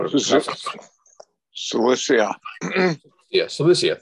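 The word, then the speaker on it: Cilicia: this is celestia yes celicia thank you it's not the way i would anticipate pronouncing it uh greetings we have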